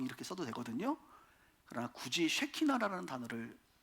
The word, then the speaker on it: 쉐키나: 쉐키나. 한번 따라합시다. 쉐키나. 뭐 설교 제목이 이렇게 그냥 발음 잘해야 돼요.